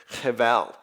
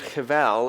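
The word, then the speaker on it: הבל: In fact, the Hebrew word translated futile here is the Hebrew word cheval. Even though it has a B in the spelling, it's pronounced V in the Hebrew, just to be confusing to us.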